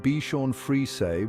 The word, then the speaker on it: Bichon Frise: The Bichon Frise, pronounced Bichon Frise with the plural being Bichons Frises, is a